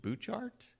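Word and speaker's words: Butchart: And we did a tour of, and somebody's going to correct my pronunciation, is it Bouchard?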